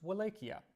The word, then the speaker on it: Wallachia: Now, when Dracula was still a young boy, his father became ruler of Wallachia. Sometimes you'll hear it pronounced Wallachia.